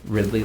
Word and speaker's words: Ridley: can say my name uh Ridley uh and then Ridley like Daisy Ridley um and I will